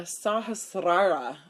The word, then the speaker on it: Sahasrara: It's the Sahasrara. I always want to roll that R like it's Spanish, but it's not. So that's how you say it in Sanskrit.